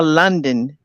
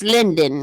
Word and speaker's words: Lyndon: it, I don't know where it it's Linden or London. I it's mean, not it's London, it's Linden.